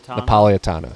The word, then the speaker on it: Napolitano: Napolitano.